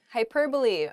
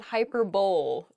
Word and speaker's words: hyperbole: mispronouncing this first word the first word is hyperbole hyperbole um it's not hyperbole though it does sound